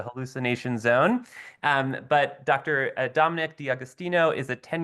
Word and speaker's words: D'Agostino: Is it D'Agostino? Did I get anywhere close? Yeah, that's right.